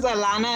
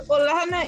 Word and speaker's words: Olana: thought atlanta name was i thought her name was alana and they were just pronouncing it i thought oh okay all right so olana is the professor's beautiful